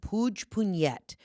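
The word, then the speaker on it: Puigpunyent: We were staying at the Grand Sonnet is in this tiny little village called Puig-Punyet. And I am pronouncing that right, Puig-Punyet. It sounds Russian, but it's Catalan.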